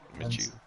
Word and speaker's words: Minshew: Whoa, Gardner Minshew, is that how you say it? Minshew.